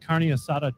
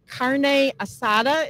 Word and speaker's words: carne asada: We're doing grilled carne asada tacos.